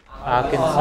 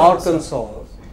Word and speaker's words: Arkansas: Arkansas. Arkansas. You know, does he pronounce this last sound? No, he doesn't.